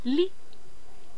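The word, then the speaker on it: lit: Li, regardez, T, ça se prononce pas. C'est une lettre muette. Li, li.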